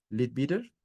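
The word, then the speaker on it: Leadbeater: estudios de anant y le bitter se pronuncia así l bitter entre otros según la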